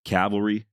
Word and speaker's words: cavalry: Uh, just the way I pronounce it, sometimes it sounds like I'm saying Calvary instead of Cavalry.